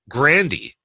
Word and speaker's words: Ariana Grande: up with is actually Ariana Grande same thing said it's Ariana Grandy but they just didn't want to correct it and now it's in